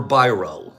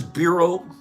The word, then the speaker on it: biro: Which is it, bureau or biro? Number one or number two? Bureau or biro? My brain says bureau. Mine does too. Is it bureau? Bureau? It's biro, number two.